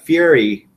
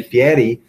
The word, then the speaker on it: Fieri: I like to go down like Fieri. I said it wrong. Fieri. And Fieri gave credit on the Hot Ones episode for the host saying his name is Fieri.